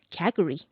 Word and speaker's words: Calgary: you can say, like you are not pronouncing it as the spelling Calgary, but Calgary, like Cagry, Calgary.